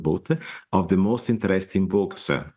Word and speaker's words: Boot: So send them to my website, just Boot, Dutch pronunciation, with an D, Boot with an T, Boot in English, and you have it all together.